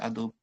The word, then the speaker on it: Adobe: But the correct pronunciation is Adobe, right?